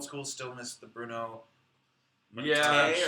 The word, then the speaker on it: Mattei: Someone says, going old school, still miss the Bruno Mattei or Mattei? Mattei. Mattei. Oh man. It rhymes with okay. Just like a George Takei.